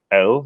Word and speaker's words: el: hear the difference and there actually is no difference so here we have to also rely on the context of what we're hearing around these words to tell us which one we're talking about so they sound the exact same and because they're only